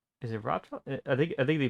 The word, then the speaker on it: Raphtalia: Is it Raphtalia? I think they pronounce it Raphtalia. I said Ralph. It's technically it's like spelled like Raph, so R-A-P-H, but I'm pretty sure it's like Raphtalia.